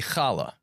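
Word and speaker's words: challah: You never saw the hala bread? I I've seen halal bread, but halbad. How do you say it? I like hala. Hala. Yeah. So, we say kala.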